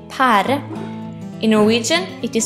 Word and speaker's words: pære: a pair in Norwegian a peir is called pære in Norwegian it is spell p e r e trite pære This is a kiwi in Norway we pronounce